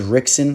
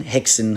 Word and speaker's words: Rickson: of you guys that aren't aware this is Rickson Hickson everyone who pronounced at Gracie's son a lot of people